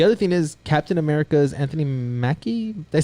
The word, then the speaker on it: Anthony Mackie: The other thing is Captain America's Anthony Mackie.